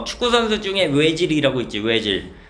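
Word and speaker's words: Özil: 외질. 근데 이거 오질이잖아. 오질. 근데 그 독일애들 보면은 여기 이제 점이 두 개 찍혀 있거든. 이걸 뭐라고 하냐면 움라우트라고 그래.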